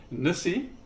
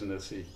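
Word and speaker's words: Nisse: So, the Christmas don't know how you pronounce that in in America. N I S E Nissi. I don't know. I guess so. Okay. Uh so we certainly pronounce it here as as Nissi.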